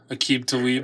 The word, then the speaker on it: Aqib Talib: Well, apparently it's one of the cornerbacks was Albiq Talib, right? Isn't that how you pronounce it? Yeah, Aqib Talib.